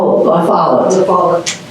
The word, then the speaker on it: LaFollette: Brown Mobley, Vera Lafayette, how do you pronounce Vera's name? LaFollette.